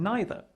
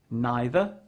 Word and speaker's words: neither: It is also worth noting that both either and neither can be pronounced in two different ways. Either, either. Neither, neither.